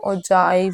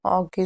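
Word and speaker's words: ogive: है ये है क्या ऑगिव जिसको हम ओजाइव भी बोलते हैं ऑगिव भी बोलते हैं। ठीक है? दोनों दोनों प्रोनाउंसिएशन करेक्ट है।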